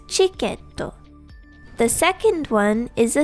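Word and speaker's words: チケット: In English, it sounds more like tiketo, but it is pronounced as chiketo.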